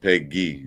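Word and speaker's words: Pegues: It's pronounced Peggy.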